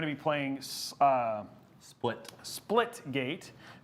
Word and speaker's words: Splitgate: So now, and so we're going to be playing uh split splitgate. Think of banana split. So the reason that he's correcting me is because I've literally said it wrong almost the whole night.